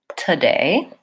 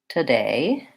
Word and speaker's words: today: the word today and in this word the stress is on the syllable day that has the clear vowel a and the first syllable is an AA so it sounds like today today it's short and reduce vowel and so I will